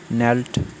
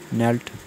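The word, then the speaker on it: knelt: Pick picked picked इसका मतलब है चुनना उठाना मीन मेंट मेंट मतलब होना नील नेल्ट नेल्ट घुटनों के बाल झुकना यहां की साइलेंट है।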